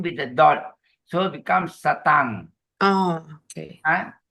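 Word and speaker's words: sataṃ: the dot on top they are pronounced as N G Oh ok example the first line the word is s a t a m with the dot so becomes satang oh not satam not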